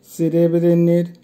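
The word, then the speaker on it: серебряный: সেরেব্রিনি, সেরেব্রিনির অর্থ হবে রূপা বা সিলভার কালার, উচ্চারণ হবে সেরেব্রিনি, সেরেব্রিনি।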